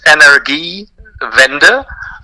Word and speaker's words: Energiewende: So Germany's official energy policy is it's called Energiewende. Is that the correct pronunciation? Could you tell me the correct pronunciation and Of course, translate and maybe translate that phrase into English? Sure. So the pronunciation is Energiewende.